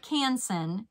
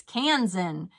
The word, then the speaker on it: Kansan: this is the kitchen oh I was saying it wrong it's not canson it's Kansan the kitchen cans in all